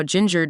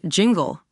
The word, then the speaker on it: Jinger: Some fans even admitted that if they weren't familiar with the Duggar, they might have pronounced her name as Jingle, which, to be fair, isn't too far off from how it looks.